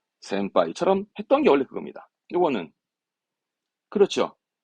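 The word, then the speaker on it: 先輩: 뭡니까 동그랗게 반타 금으로 해서 동그랗게 붙는 거 센빠이처럼 했던게 원래 그겁니다 요거는 그렇죠 심 발음의 신 배는 하이 신배가 아니라 우리말로 걱정이잖아요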